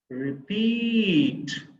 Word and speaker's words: repeat: there are two syllables repeat are he re that is a syllable p-e-a-t this is another syllable where do we take extra time or where do we use extra force to enter the sound p so second syllable repeat the second syllable is the stressors level next try syllabic words